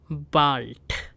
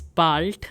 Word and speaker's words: bald: See you soon is called bis bald. Now since we have A alphabet here, I'm pronouncing it as A. So bis bald means see you soon.